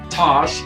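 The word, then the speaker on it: Tache: Then I started thinking, if I give Tosh, that's our dog's name, it is spelled T-A-C-H-E, a bath today, even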